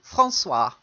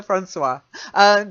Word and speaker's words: François: Then the next one is just a French name. François. François. Oh, okay. I think I misheard it. Francois. Yeah, Francois. Probably the English equivalent would be Francis. Okay, but in French it's Francois.